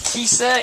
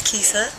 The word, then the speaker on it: Kisa: So jump in there, Miss Kissa, introduce yourself. Hello, I'm Miss Kisa. He said it right. Most people say Kissa. Kissa? It's not Kissa.